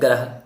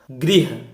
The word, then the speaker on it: गृह: हम इनको अक्सर बोल जाते हैं ग्रह, वृक्ष, अमृत, कृषक। बिल्कुल रॉन्ग प्रोनाउंसिएशन। हमें एक्चुअल में कैसे प्रोनाउंसिएट करना है इन वर्ड को? गृह, वृक्ष, अमृत, कृषक, गृह, गृह, गृह। अगर ग्रह बोलेंगे तब तो पदेन रा हो जाएगा।